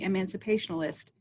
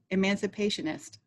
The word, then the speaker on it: emancipationist: of the colorful Kentucky emancipationalist. I don't think I said that word right. Emancipationist. I added some syllables.